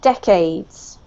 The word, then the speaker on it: decades: this one here is the emphasis is on the first syllable right decades decades yeah cool now this one